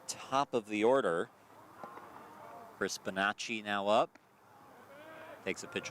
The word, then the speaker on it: Bonacci: I've changed the second C to an H, so now I know to always pronounce it Chi instead of C.